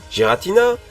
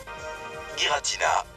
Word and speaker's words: Giratina: D'après vous, Gératina ou Giratina ? Giratina, forme originelle. Pour ma part, c'est raté. Je le prononcer à la GR. Giratina.